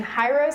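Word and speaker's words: gyros: could have it in hyros I think that's how you pronounce it it's g y r oos you could actually dip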